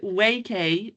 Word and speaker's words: Waikay: thing about how to how to pronounce it. WK YK Y K but yeah WK is what we've landed on like traps like everyone